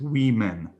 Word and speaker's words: women: The word is written like this. The pronunciation is women.